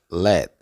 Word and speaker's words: let: esta palabra se pronuncia Let let como si fuera pronunciar la t pero no la pronuncia Let let y la